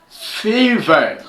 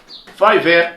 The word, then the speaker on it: Fiverr: Là-bas, nous avons par exemple Fiverr. On lit Fiverr, mais moi je prononcé Fiverr pour vous permettre un peu de saisir l'orthographe, même dans votre langue maternelle.